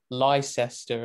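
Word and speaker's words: Leicester: right just outside Silverstone you've got toaster but it's spelled tester and then of course you got Lester and all that too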